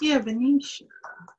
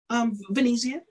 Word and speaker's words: Venezia: How would you pronounce that? Venezia. Mm-hmm. I didn't hear the Z when you said.